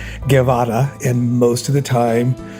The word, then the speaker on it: Guevara: by saying Guevara, and most of my life you grew up hearing it pronounced as Guevara, Guevara, Guevara, and when I stopped being embarrassed about the origins of my name, I started pronouncing it the way my dad said it, as Guevara, and most of the